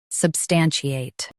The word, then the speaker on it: substantiate: US uses chi. UK uses she. Watch that middle sound.